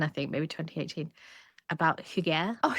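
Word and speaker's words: hygge: I used to pronounce it as huggy. Well, I like that though cuz it's like, you know, it's like a hug, like cozy.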